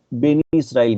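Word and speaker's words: Bene Israel: اسرائیل ملت کا ہے، جس کا اردو اور عربی میں ہم تلفظ بنی اسرائیل کرتے ہیں، اور مہاراشٹر کے کونکڑ کی ساحلی پٹی میں رہنے والے یہ یہودی اپنے آپ کو بینی اسرائیل کہتے ہیں.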